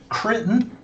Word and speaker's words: Critton: And then I've got Kirk Critton, rhymes with Britain, and he is the marketing director of Planet Comicon, and he is working on a new project called Fandom First.